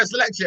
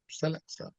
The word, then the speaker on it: Selexa: and I was like, "Oh, you know, Selexia." She's like, "Selexa," and I was like, "Selexia, Selexa." I was like, "I'm just pronouncing the e and the a a bit too much."